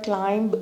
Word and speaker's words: climb: अच्छा, तो जो बच्चे मेरी वीडियोस देखते हैं उन्हें मालूम हो चुका होगा अब तक कि वर्ड क्लाइंब नहीं होता बल्कि क्लाइंब होता है, और इसमें भी साइलेंट होता है।